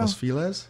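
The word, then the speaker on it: Los Feliz: even since I've been here like Silver Lake Los fiz took off I would say Los fiz Los how do you say it Joe Los FES Los FES I just can't get it in my head I mispronounce everything uh East LA all of a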